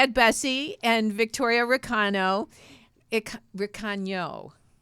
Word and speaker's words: Recano: Recano, right?